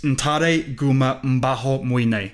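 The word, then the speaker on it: Ntare Guma Mbaho Mwine: And that's, speaking of which, the highlight of the season, of the show, for me was, right, I think it's Ntare Guma Mbaho Muine.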